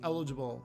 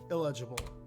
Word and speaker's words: Eligible: take your full name it's pronounced eligible not illegible thank you eligible your claim